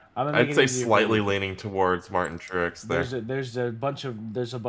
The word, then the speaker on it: Truex: think's gonna win versus C Bell versus M Truex Jr. Trucks, is it Trucks?